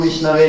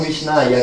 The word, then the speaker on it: Vishnave: Ma se una persona dice Om Vishnave Namaha per fare un'offerta, quindi lo pronuncia correttamente, con devozione, e una persona che invece dice Om Vishnaya, che è completamente sbagliato, però con devozione, Krishna